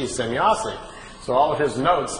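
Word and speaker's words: Semjase: Well, Billy was trying to make his notes and was trying to make write it down phonetically how the name sounded to him. So he wrote it out, S-E-M-Y-A-S-E, Semyazi.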